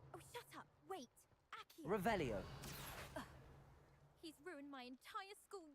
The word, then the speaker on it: Revelio: Revelius. You're saying it wrong. Ugh, Revelia. Much better. Oh, shut up. Wait. Accio. Revelio.